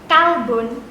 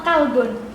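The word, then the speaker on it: كلب: Kolbun sama kalbun. Mirip nggak? Mirip ya? Sama ya artinya, iya. Nah, Sama atau beda? Kolbun, kof lamba sama kaf lamba. Nah, beda di depannya tapi hampir sama ini pengucapannya.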